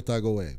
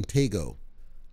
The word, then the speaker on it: Tagoe: some controversy that happened i refer to him because he's from ghana emmanuel tagaway because he's from ghana and so i know some of the pronunciations from ghana the commentators called him tego i'm going to leave